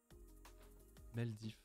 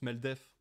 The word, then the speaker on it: Meldef: Meldif. Meldif Twitch. Meldif. Meldif, demain soir à 21h, je lance Twitch pour discuter un peu de tout. Ah, ça se prononce Meldef.